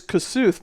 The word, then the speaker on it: Kossuth: It's Kossuth, right? It is Kossuth, but There's no L.